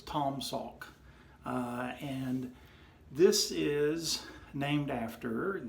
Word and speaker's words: Taum Sauk: when I looked at this that this was pronounced Tim say oak because of the you they you there but it's actually pronounced like the a you in fraud so also it's Tom Salk and this is named after the highest point